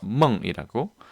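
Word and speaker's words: 梦: 아까 보셨겠지만 간체자는 이것보다 더 줄인 꿈몽자를 써서 멍이라고 발음합니다. 자, 넘어가겠습니다.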